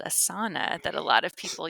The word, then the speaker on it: asana: So if you're pronouncing it like you would Spanish, it would be asana because the emphasis would be on the second to last syllable, but Hmm. but it's asana.